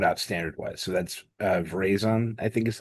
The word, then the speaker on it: Veraison: So that's Verizon, I think is how you say it.